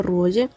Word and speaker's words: Ruoye: Nota: Ruoye es pronunciado originalmente por su escritora en chino como Ruoxie, pero la autora ha señalado que deberíamos referirnos a él como Ruoye.